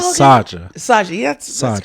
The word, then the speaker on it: Saja: all Saja. Saja, yeah, that's Saja. correct. Yeah. Okay. It's Saja, but it's pronounced with a little softer J, Saja. And Saja. it's Korean for lion, if you ever need a lion in Korea.